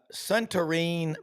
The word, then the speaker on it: Suntarine: Suntarine Perkins. Did I pronounce Yeah, that correctly? yeah, Suntarine.